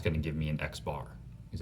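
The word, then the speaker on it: x̄: we use this symbol x of the line over the top pronounce x bar so samples are small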